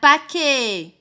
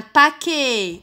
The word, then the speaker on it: paquet: Un paquet. Un paquet. Est-ce que vous entendez le son E? Oui, très bien. On entend le son E. C'est écrit ET.